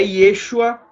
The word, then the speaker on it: Yeshua: É Yeshua, seu nome hebraico. Só que aí, como veio no grego, Jesus, então Jesus, como no grego não tem como pronunciar Yeshua, não se pronuncia a palavra Yeshua em grego, então no grego ficou Jesus, né?